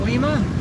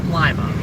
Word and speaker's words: Lima: Some people call it Lima. It's pronounced Lima.